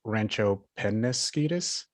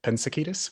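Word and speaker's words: Rancho Peñasquitos: It's pronounced Rancho Penasquitos, not Pensaquitos, but you did a great job otherwise.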